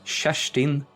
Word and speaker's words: Kirsten: Her name uh her name is uh we'll say in Swedish Shashin Frey. Shashin Frey. So that's spelled Kirsten.